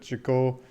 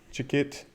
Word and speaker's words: Chicot: in Chicot County Arkansas where she could chicle Chicot heard multiple different pronounced pronunciations it's French so if I'm pretty sure the Chicot makes the most sense point for eight acres